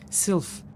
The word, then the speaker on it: Sylph: Sylph, not Sliff, Sylph.